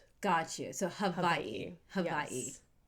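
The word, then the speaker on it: Hawaiʻi: So many people say Hawaii, right? And but in real Hawaiian pronunciation, it's havi.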